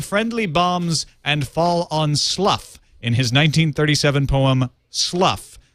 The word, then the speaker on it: Slough: pronounced slough, like plow.